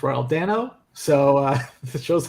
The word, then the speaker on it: Dano: and they said it's Dano it's easy to remember because it rhymes with Drano and that's what I